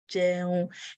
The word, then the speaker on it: jẹun: So bo, bo, coming, lo, going, jẹun, eating, mo jẹun, mo jẹun.